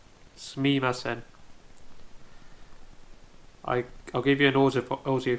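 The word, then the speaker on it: すみません: And although it's correctly pronounced Sumimasen, one thing you ought to look out for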